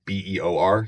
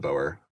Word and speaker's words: Beor: It's Beor, so it's the Beor Mountains, not the Boer.